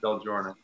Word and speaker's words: Del Giorno: we did okay we're happy yeah so gordon del giorno did i pronounce that correctly yeah del jordan awesome so you're a filmmaker and uh previously